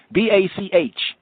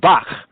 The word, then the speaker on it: Bach: not pronounce it he could not pronounce these sounds like for example b-a-c-h is the name of a composer famous composer all right some say he might be black or whatnot hey music is music right anyway his name is bach bach bach now the germans interestingly